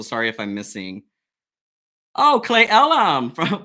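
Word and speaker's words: Cle Elum: if I'm missing oh clay Ellum from clay Ellum Washington I love it can you tell I'm from Washington too since I pronounced it correctly happy New Year happy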